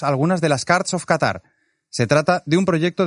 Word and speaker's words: Qatar: un poco más Qatar quizá sorprenderá que lo pronuncie así Qatar y no Qatar pero es que así es como se pronuncia en árabe me lo explican los